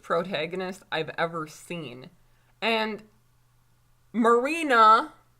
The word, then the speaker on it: Marina: I've ever seen and marina I said it right this time Chris wicked see I kept saying Mariana Marina just making sure